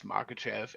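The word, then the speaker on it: Makhachev: Uh, yeah, I know how to say it. It's Makachev and I think he dethrones him.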